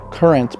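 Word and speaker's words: QRNT: That's pronounced current, but spelled Q R N T.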